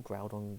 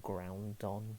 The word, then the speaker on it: Groudon: And yeah, I used to call Groudon Groundon because I couldn't I read.